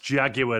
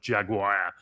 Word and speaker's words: Jaguar: And finally, it's pronounced Jaguar, not Jaguar.